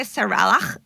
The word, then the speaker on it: Saralach: No, like everybody says Sarah because they can't say Saralach, but it's really cool if you can.